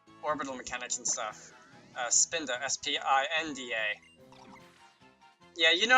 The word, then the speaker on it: Spinda: this thing is big not STI DNA but its fin de mi spinning around like orbital mechanics and stuff spinda STI NDA yeah you